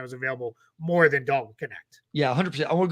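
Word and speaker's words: Knecht: jersey number four so Connect Four and yes that is how you say it I looks like it's neck but he pronounces it connect and they're gonna have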